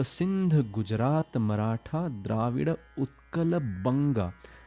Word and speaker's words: बंगा: Punjab, Sindh, Gujarat, Maratha, Dravida, Utkal, बंगा. Just yesterday I was listening to somebody singing it as Vanga, and that is ridiculous. You know, it is totally wrong.